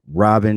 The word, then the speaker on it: Rahbin: amazing audience all right well my name is robin uh my mama didn't spell it like that i spell it r-a-h-b-i-n but